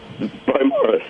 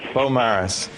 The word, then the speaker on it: Beaumaris: Is it Beaumaris or Beaumarie? We were debating. Beaumaris. Beaumaris.